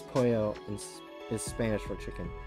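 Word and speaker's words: pollo: I can only think of chicken po Polo pronounce Poyo in is Spanish for chicken oh yeah it is huh we can we can just Spanish chicken it's not pronounced Polo I know I didn't see it at first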